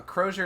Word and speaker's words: crozier: but me I'm different a Crozier is the staff carried by bishops pronounced like Frasier oh the demon mace